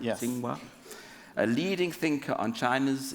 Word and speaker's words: Tsinghua: Did I pronounce that right? Yes. Tsinghua.